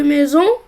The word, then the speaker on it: maison: Et le seul cas où la lettre S se prononce Z, c'est quand il est entre deux voyelles. C'est le cas de maison.